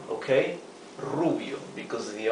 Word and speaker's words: rubio: hair Rubio for blonde remember to pronounce the r with a rough sound R okay Rubio because the r is